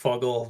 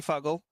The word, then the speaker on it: FGGL: If I could break your train of thought, I'm so used to FGGGL being pronounced Fuggle that it's like hearing the long form is like, is that right? Right? Because you say it. Yeah, FGGL is definitely Fuggle.